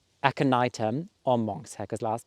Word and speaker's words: aconitum: It's called, now I know how to pronounce it right, aconitum or monk's hair, because last time I pronounced it completely off.